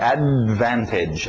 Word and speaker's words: advantage: Então, em inglês é assim, a gente engole esse D, não fala o D, right? Advantage, advantage.